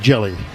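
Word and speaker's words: Hjelle: Jelly the ultimous sinker. Jell's name spelled H J E L L E pronounced just like Jelly.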